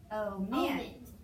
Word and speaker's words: omit: We're gonna divide before the consonant, and the accent's gonna be on the second syllable. So we unaccent, this is going to be open unaccented syllable, is half long, coded with a modified macron. Vowel and a closed syllable short, coded with three.